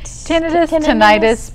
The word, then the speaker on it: tinnitus: we were talking about tinnitus is that how you pronounce it tinnitus potato potato okay it's both ways um and I know